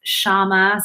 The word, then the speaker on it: Syama: me on maker's row my name is shama so it's not spelled phonetically it's spelled uh s-y-a-m-a um not too many